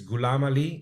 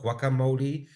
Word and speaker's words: Gulamali: For the people who still can't do it, it's Gulamali, not guacamole or any other one you make it, but it doesn't matter.